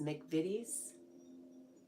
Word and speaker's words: McVitie's: Oh, I'm saying it wrong. It's McVitie's.